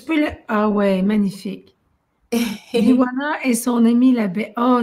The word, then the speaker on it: Biwana: Oui, biwana.ca. Alors, Biwana qui s'écrit Bijuana quand les gens le lisent, hein, Bijuana, mais moi je le prononce Biwana, mais peu importe comment on le dit, c'est bien parfait.